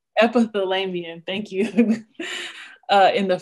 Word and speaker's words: epithelium: uh ep epithel so i don't know how to say this word y'all episode episode it's epithelium epithelium thank you uh in